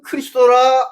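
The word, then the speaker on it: Χριστός: 근데 발음 그대로는 크리스도입니다. 크리스도. 그래서 이 마시아는, 이 그리스도는 한 사람이 아니에요. 주님이 말씀한 그 그리스도는 많은 사람이 내 이름으로 와서 말하기를 나는 마시아, 나는 크리스도라 할 것이다 이겁니다.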